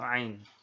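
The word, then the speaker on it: ع: Huruf Ain ini dikeluarkan dari tengah-tengah tenggorokan. Jadi dirasakan ya. Harus keluarnya itu tengah-tengah tenggorokan. Nah, kesalahan yang sering muncul itu diucapkan dengan suara memasuki hidung.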